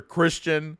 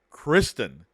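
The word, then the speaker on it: Criston: say it right now we call them sir Christian Sir Christopher sir Kirsten it's sir Kristen so I just wanted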